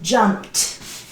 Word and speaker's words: jumped: going to add Edie jump jump jump jump pronunciation teeth jumped it is not jumping no no jump it